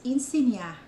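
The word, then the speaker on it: insinya: también hablamos Bisaya y tenemos la tendencia de pronunciar la letra E a I. Entonces, enseñar lo pronunciamos enseñar con I.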